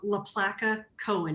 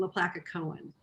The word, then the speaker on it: LaPlaca Cohen: That is done by a company called LaPlaca Cohen. It's spelled L-A, capital P-L-A-C-A.